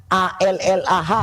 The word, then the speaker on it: Allah: teman-teman, tulisannya A-L-L-A-H atau bukan?